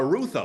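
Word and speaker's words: Rutherford: pronounce the last name uh Ruther like Luther just with r that's it okay so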